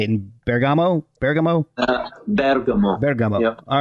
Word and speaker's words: Bergamo: There's guitarist Buck Curran, who lives in the European epicenter of the virus, Bergamo, Italy.